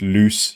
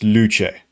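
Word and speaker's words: Luce: And for those who think it's pronounced loose, you're wrong. That's just a nickname given to the latest girlfriend to enter the Ferrari stable. No, it's pronounced luche and it means light or illumination.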